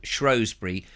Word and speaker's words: Shrewsbury: It is spelt Shrewsbury, but the word is derived from as I said in my reply today, people use an O and go Shrewsbury because the recently spelt